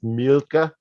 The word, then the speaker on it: Mielke: the it's a it's an Americanization of a German name which is pronounced milka but like who's gonna pronounce milka everywhere you go right so it just turned into milky because the last letter